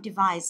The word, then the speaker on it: device: Đó, device, chúng ta sẽ nhấn vào âm thứ hai cho device.